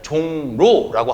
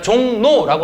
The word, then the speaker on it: 종로: 자, 종로라고 하는 말은 이응이라고 하는 비음이 지금 리을과 부딪혔죠. 그러니까 리을이 니은으로 변해서 종로 이렇게 발음하는 것이 아니라 종로 이런 식으로 발음한다는 겁니다.